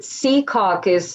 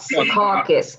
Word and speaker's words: Secaucus: Well, it's about a group of housewives from Secaucus, New Jersey, which, by the way, you pronounce it Secaucus, not Secaucus.